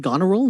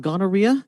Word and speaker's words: Goneril: I will be playing Goneril, not Gonorrhea. This is my first time here, and I'm really, really excited.